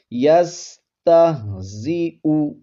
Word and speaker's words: یستہزئ: یہ بشکل یا ہے، تو یہاں پر آپ نے حمزہ کا ہی تلفظ کرنا ہے۔ یستہزئ، اور حمزہ کے اوپر جو پیش ہے اس کو لمبا نہیں کرنا، یستہزئ نہیں پڑھیں گے